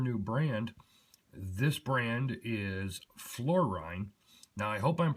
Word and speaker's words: Florijn: It is actually spelled F L O R I J N but is pronounced Florine.